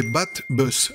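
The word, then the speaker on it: baht bus: la prononciation ou bien des battes boss battent comme le bat et buzz comme le bus c'est le moyen le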